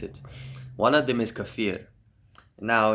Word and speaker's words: kefir: Don't say kefir. Kefir. Don't say Don't pronounce it any other way. Say kefir.